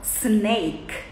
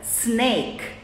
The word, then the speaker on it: Snake: letra s por exemplo cobra a gente fala sineken dormir a gente fala vou desligar aqui tá fazendo barulho dormir Fly cobra Snake sorriso maior inteligente um